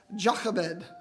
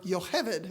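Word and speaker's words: Jochebed: Moses's mom is named jacobed or Jacob or yohevid if you watch that one movie right a lot of different ways to pronounce this but here's the deal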